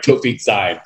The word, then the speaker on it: Toufik Zaim: I think I said it right. Toufik Zaim. You did.